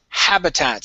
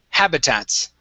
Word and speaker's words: habitats: Let's go to the word habitats. So make sure to pronounce the H here. Habitats.